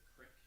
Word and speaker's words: creek: I'm from Camden, New York, where we say crick instead of creek. Uh-huh. And I often have to catch myself from saying that. I think you could pronounce creek as crick. I mean, it could be pronounced that way.